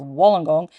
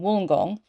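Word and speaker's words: Wollongong: and go that's pronounced wenong it's not it's pronounced wool as in sheep's wool so in woolong so the Lagoon restaurant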